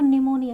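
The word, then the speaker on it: pneumonia: या एन हो तो पी के बाद एन या एस हो तो हमारा पी साइलेंट होता है। देखो निमोनिया यहां पे हम पी को प्रोनाउंस नहीं करते हैं। निमोनिया बोलते हैं।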